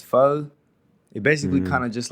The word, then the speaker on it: pho: It's pho.